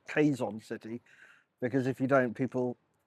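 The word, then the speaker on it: Quezon City: Heading out to a place called Lameza Eco Park in Quaison City, which just to clarify, I now pronounce Quaison City because if you don't, people look at you as if you've ordered a double espresso after dinner.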